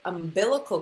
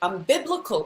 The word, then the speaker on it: umbilical: My mom used to say, instead of umbilical cord, she called it umbiblical cord.